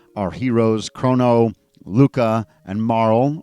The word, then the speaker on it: Marle: heroes krono Luca and Marl or as my brother says Marley which is how we pronounced it when we were kids and we're all about